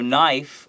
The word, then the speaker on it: knife: eat certain hmm so knife if it's a singular it's Kate and I Fe make sure that K is not pronounced is silent okay so the plural